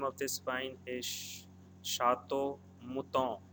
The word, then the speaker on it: Mouton: Again, I'm repeating, the name of this wine is Chateau Mouton. ON is pronounced as O, Chateau Mouton Rothschild.